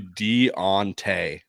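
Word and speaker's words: D'Onta: of our platforms saying this is how you pronounce his name oh I looked it up and it's literally Deontay Deontay exactly what we were saying so Deontay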